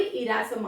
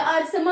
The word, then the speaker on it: Ersama: किस एरिया में हुई, इरासमा में हुई, या अरसमा, आपको बहुत सारे प्रोनाउंसिएशन में आपको अरसमा भी मिलेगा, सो it depends on यू, अरसमा यू मैन से एंड इरासमा यू मैन से एज यू विश।